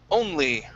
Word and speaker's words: only: All right, this word here is pronounced only. Only. Only. Okay, pronounce the N and that L. Only. When your tongue goes up to the top of your mouth to pronounce the N, okay, leave your tongue